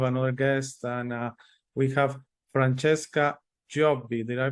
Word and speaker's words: Francesca Giobbi: today to have another guest and we have Francesca jobby did I pronounce that correctly yes Francesca jobi jobby okay